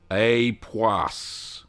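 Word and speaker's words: Époisses: and Patricia says that epas is pronounced with a hard s AAS right okay thank you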